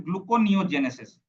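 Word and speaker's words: gluconeogenesis: है क्या नाम है ग्लूकोनियोजेनेसिस ग्लूको नियो जेनेसिस ठीक है ग्लूको नियो जेनेसिस स्पेलिंग देख लीजिए एक बारी यही है ना ग्लूकोनियोजेनेसिस ग्लूकोनियोजेनेसिस ठीक है तो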